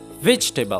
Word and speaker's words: vegetable: د دې صحیح تلفظ داسې دی. vegetable.